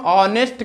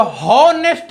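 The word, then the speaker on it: honest: जो एच होता है वो साइलेंट होता है। क्या होता है? साइलेंट। तो जब हम प्रोनाउंसिएशन करते हैं तो होनेस्ट नहीं कहते हैं इसको।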